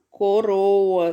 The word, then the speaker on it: coroa: Se escreve apenas com um R só, né? No meio das vogais. E a palavra Brasil, vamos ver como é que se escreve? Olha aí a palavra Brasil, certo? É entre consoantes, né? O R, ele tá entre as consoantes. E aí esse som fica diferente, ó.